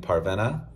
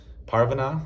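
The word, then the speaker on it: Parvaneh: in the book is named parvena parvana I think that's how you say it and this American version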